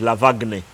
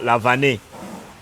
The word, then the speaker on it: Lavan: radio like I do, his name is going to be pronounced as Lavagne. Yeah? Or the closest others say will so Lavane. I was asking someone and they told me the name is Lavan, Dennis Lavan.